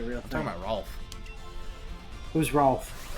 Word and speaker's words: Rolf: talking about Rolf. Who's Rolf? Ralph. Pretty sure they say his name was Rolf though in Ed, Edd n Eddy. Did they say it's Yeah. Ralph or Rolf?